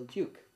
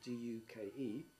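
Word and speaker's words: Deuk: and so and so and so, and El Duke. Because it was Duke, I wanted to differentiate between that Duke and the English Duke, which is D-U-K-E, and it's also very close to, and my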